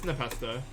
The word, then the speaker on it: Npesta: It's Npesta. Say pronounce my name. Nathan's fine too. It's just my name. Npesta is just Nathan Pesta, which is me.